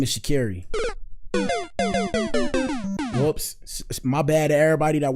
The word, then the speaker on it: Sha'Carri: Well, her name is Shakiri, not Shakari. I call her Shakari, but her name is Shakiri.